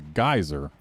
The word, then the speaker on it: geyser: for a geezer everyone so as a speaker of american english i'm amused by their pronunciation you see for me what we're looking for is a geyser and a geezer is an old person so yeah we we